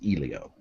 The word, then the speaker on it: Elio: he's you're saying that ilia will never happen right is it no no or elio i i don't know the owner of the company himself pronounced it elio okay yeah no it's